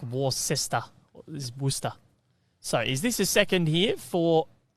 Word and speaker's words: Worcester: Yeah, like Worcester.